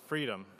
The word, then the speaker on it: FRDM: next presentation is from FRDM or pronounced freedom I believe so freedom is a